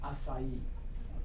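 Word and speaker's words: açaí: you on on pronunciation but it's called It's pronounced acai okay um tell me how do you say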